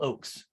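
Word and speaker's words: Ochs: all right uh cliff says that ox rhymes with oaks so phil oakes thank you cliff i'm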